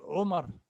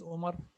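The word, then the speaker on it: عمر: So in the pronunciation, we say Ali, not Ali. It is Abdi, not Abdi. It is Omar, not Omar. It is Aisha, not Aisha. It is Alia, not Alia. So this letter is A.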